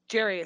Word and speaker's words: Gary: your name is Gary, but it's pronounced Jerry, so I don't know what the fuck is going on.